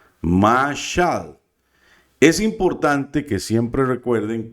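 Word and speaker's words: משל: Bueno, aquí tenemos la mem con la a, nos dice ma, obviamente. La shin con la a, entonces estamos diciendo ma, sha, y la lamed, que es un sonido de una L, mashal, mashal.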